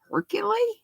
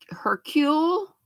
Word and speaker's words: Hercule: The E is silent, so Hercule, I'm sure it's French.